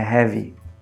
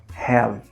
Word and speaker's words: have: Bem mudo, né? Have. Não é heavy. Have. Ok? Então, ao invés de pronunciar com um izinho, é bem mudo.